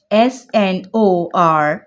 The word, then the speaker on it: snorkel: So here come some more words like snorkel sounds like snorkel. R gets silenced over here.